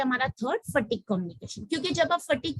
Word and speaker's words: phatic: उसकी प्रोनाउंसिएशन मैंने लिखा है PHATIC is pronounced as fatigue, या स्मार्ट ओपनर है।